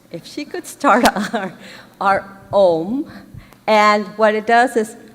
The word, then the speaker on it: Om: And actually, even if they spell it Om, it is sounded out A-U-M, because it starts at the back of your mouth and goes around.